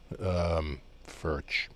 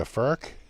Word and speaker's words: Furch: I think in America we pronounce it furch, like birch, but church. But it seems like they're going with a more of a k sound, as in Bach. So furk.